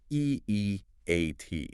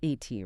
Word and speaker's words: E-E-A-T: E-E-A-T, and let's remind everyone we pronounce it as the individual letters E-E-A-T. Not E.T., right?